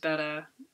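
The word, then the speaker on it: betta: um my fish marshmallow died he was my Beta it's actually pronounced better much like The Chronic krennic thing but I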